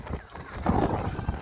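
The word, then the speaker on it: Gorée: So they finally decided to modify the English pronunciation, which went from Goede to Goree.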